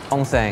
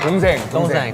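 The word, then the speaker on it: 동생: Dongseng. Is that how you say it? Dongsaeng. What is that?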